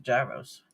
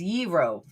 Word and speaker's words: gyro: The proper way to say it is Yro. G is silent.